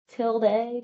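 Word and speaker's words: tilde: Okay, we looked it up. We're just going to say tilda.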